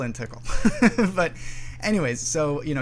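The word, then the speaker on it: TiHKAL: people pronounce them differently some people say pickle and tickle some people say pikal and tikal i sort of suspect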